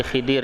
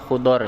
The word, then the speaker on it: Khidir: Baik, kisah tentang Nabi Musa dan Nabi, ada kalau orang Indonesia atau terjemahan bilangnya Nabi Khidir ya. Kalau dalam beberapa kalimat yang dibaca oleh atau di pengucapan yang lain sebutnya Khudor ya, Nabi Khudor.